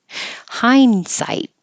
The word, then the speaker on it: hindsight: Hindsight. This is a good example of you won't hear the D at all. The N and the D are made in the same place with your tongue tip behind your top teeth.